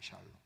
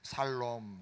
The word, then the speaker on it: 샬롬: 샬롬. 경상도 사람들 샬 발음을 못해서 살롬, 살롬. 살롬도 괜찮아요.